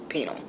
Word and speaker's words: pineal: Some people pronounce it pineal, some people pronounce it penal. So whatever way you want to pronounce it.